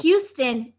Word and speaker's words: Houston: Texas, it's Houston, and fuck you for saying it wrong.